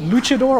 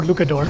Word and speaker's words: luchador: Is it luchador or lucador? I believe it's luchador.